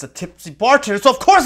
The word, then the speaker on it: Tipsy: Stay tippy. Stay tippy? He pronounced his own name wrong. Tipsy.